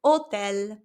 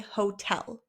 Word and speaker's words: hotel: You just say hotel. In Spanish, we do not pronounce the letter H.